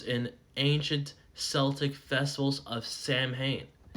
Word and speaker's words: Samhain: Halloween's origins date back to ancient Celtic festivals of Samhain, pronounced Samhain, whatever.